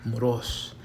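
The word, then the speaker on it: μωρός: So it would be moros, and it has a acute accent, above the O. So you would stress that syllable. You would emphasize that. So it would not be moros, but moros, not moros, or moros. It's moros.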